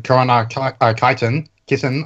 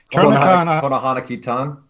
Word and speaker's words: Konohana Kitan: So I'm also watching Korona Kitten or whatever. How do you say it? Konohana Kitan.